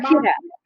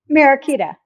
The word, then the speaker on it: Mariquita: Mariquita. Mariquita.